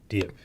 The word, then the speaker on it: Dieppe: Dieppe. Dieppe. Yeah, Dieppe. So I that's think what- that's how it's pronounced.